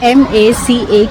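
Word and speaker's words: macaque: So the pronunciation of m a c a qu u e is maca.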